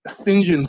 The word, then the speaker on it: St. John: John Stevens or as they pronounce it in Irish Phil Phillip Singen Stevens Singen Stevens um declared me a vacious litigator.